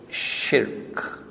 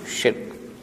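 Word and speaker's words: شرك: act of silk and please pronounce that word the way it is in the car don't change it in your body language the word is silk one syllable not to ship why are we facing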